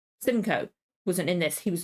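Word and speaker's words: Simcoe: again Samuel ruken roken again never heard it's pronounced Simco wasn't in this he was in the opening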